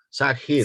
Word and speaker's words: Zahir: Zahir, ¿su nombre es Zahir o Sahir? ¿Cómo se pronuncia? Sahir. Sahir, Sahir. Sahir. Bien, como Sahara.